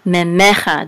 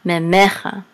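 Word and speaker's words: ממך: Memecha. This line right here gives it the accent. Memecha. Otherwise, the accent would be on the last syllable, memecha.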